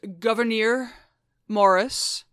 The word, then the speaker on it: Gouverneur Morris: his name AB uh his name is pronounced Governor Morris Governor he well Governor